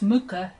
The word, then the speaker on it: Mucha: it's the Mah m u c h it's pronounced Mah Zentangle and uh I am not a Zentangle